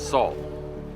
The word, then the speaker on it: Seoul: It's soul. Soul simply means capital. It's spelled s o u l, but the pronunciation is as if the e isn't there.